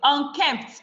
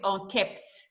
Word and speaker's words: unkempt: So unkempt, not kept. So it's not, some of what we say is unkept. It's unkempt.